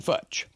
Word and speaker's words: Futch: It's like Dutch, except with an F. Futch.